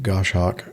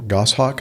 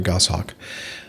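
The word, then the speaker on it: Goshawk: Goss hawk. I'm sorry. Goss hawk. Um, I don't know. What is a gosh hawk? Is that some kind of a bird? Yeah, gosh hawk. Yeah, it is. It is a bird of prey. A go. Oh, very good. I I' never heard of it. Um, thank you for correcting my pronunciation.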